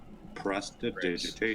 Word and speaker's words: prestidigitation: press, Prestidigitation. press, Press. Right? Press. t, digi, like Digimon. Tation. Prestidigitation.